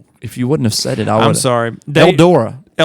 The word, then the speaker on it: Eldora: Eldora. Eldora.